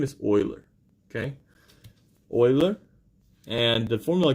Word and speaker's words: Euler: name here is concealer like the way it's pronounced if you called it you older then people know that you don't really know math right okay names Euler name is boiler okay boiler and the formula goes like this